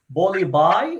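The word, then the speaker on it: Bulli Bai: an auction on an Indian app known as Bollywood. Is that, if I'm pronouncing that correctly?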